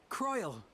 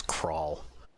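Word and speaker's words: Krile: Croyle, it is good to see you. Well, at least he pronounced it as an I. Ishtola's take on it was Crawl, which is the villain from Star Trek Beyond.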